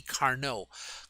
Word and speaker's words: Carnot: meaning efficiency and c carnot carno uh carno there's the name there it's a french name so you don't pronounce the final t uh that was just